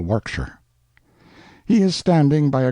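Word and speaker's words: Warwickshire: Berkeley of Chalundy Castle, Warwickshshire. Pronounced Cubri Flanover Marshbanks sellers Viccount Barkley of Chumley Castle, Warkshire.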